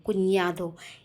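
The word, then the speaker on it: cuñado: निया, इसलिए मैं इसको कुन्यादो पढ़ रही हूँ, कुन्यादो। ये एक यूनिक लेटर है स्पेनिश में जिसको हम निया पढ़ते हैं, निया, ठीक है। तो ये हो गया कुन्यादो।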